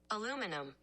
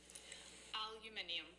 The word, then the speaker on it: aluminium: Aluminum. That's what it says. One more time. Aluminum. Yeah, it's aluminum. Get out of my face. Aluminium.